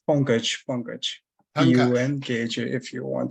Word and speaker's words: Pankaj: And how do I pronounce that? Pankaj? Yeah, it's Pankaj.